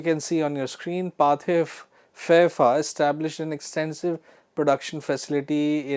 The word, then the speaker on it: Pathé Frères: I told you that this is a French name and the pronunciation is Pathé Frères.